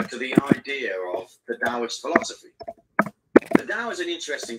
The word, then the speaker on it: Taoist: a o i sp so it's written in taurus and pronounced with a d taoist that always confused the hell out of me in the early days anyway it came about